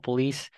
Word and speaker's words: police: Why is it like why does C sound like an S?